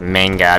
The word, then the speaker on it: manga: So anyway, this manga series, oh yeah, I pronounce it as manga because we are in an American setting. I know it's pronounced as manga, but I mean, I took Japanese for 2 years, so you don't have to tell me.